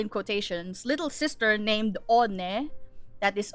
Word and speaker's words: One: quotations little sister named on that is o n e it's spelled as one but it's pronounced on and she is also